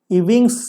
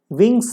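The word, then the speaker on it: Ewing's: Drug used in treatment of इविंग्स sarcoma, विंग्स sarcoma, E silent है इसमें, विंग्स sarcoma बोलते हैं।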